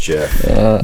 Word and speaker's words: Jif: Like GIF, but with a J. Pronounced Jif.